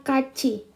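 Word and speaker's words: 같이: Ketika dia T bertemu dengan I, maka dia akan menjadi C. Jadi T bertemu dengan I, maka dia akan menjadi C. Jadi bacanya kaci.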